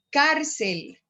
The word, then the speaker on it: cárcel: Cárcel. Ahí yo solamente tengo dos sílabas. Entonces, cárcel tiene sobre la A la sílaba tónica.